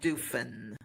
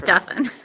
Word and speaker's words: Duffin: it up you know because it sounds like muffin right it's pronounced like muffin and Kelly Duffin is